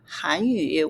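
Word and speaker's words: 汉语: If you don't have tone marks, we don't know if you're saying Hanyu, which is Korean language, or Han-yu, which is Chinese language. They can be confusing, right? So, Hanyu. Han-yu. You hear the difference with the tones?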